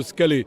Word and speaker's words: Scalet: Vous êtes monsieur Scalé. Je le prononce bien ?